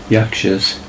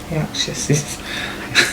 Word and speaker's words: Yakshas: Yakshas. Yakshases. No, just Yakshas.